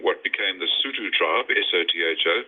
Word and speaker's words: Sotho: There were scattered clans on the periphery, including what became the Sotho tribe, S-O-T-H-O, pronounced Sotho, which is now Lesotho, the country, a landlocked kingdom, mountain kingdom in the middle of South Africa, independent.